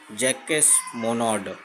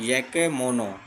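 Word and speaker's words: Jacques Monod: और सबसे पहले इसको स्टडी किया था, इसको डिस्कवर किया था, ये दोनों साइंटिस्ट का नाम बहुत फेमस है, Francis Jacob and जैकस मोनोड।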